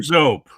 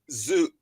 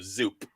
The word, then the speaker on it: Zoop: Zoop or Zope? We don't take it personally, Mark. It's Zoop, like the Los Angeles Zoo or the Bronx Zoo with a P at the end. So Zoop.